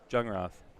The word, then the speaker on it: Jungroth: You have, is it pronounced Jungroth or Youngroth? Jungroth, who's throwing really well with Tate Becker from Adelia on the other side.